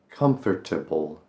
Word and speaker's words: comfortable: Comfortable. That's overpronouncing it a bit. Just make it more comfortable. Comfortable. comfortable. You kind of run into the middle of it, comfortable.